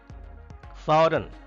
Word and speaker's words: foreign: Foreign, G is silent here.